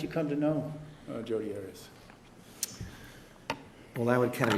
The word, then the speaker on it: Arias: Arias. Have you ever heard pronounced any other way other than Arias? No. Okay. Yeah, because Juan Martinez likes to say Arias because it sounds like a Bond villain.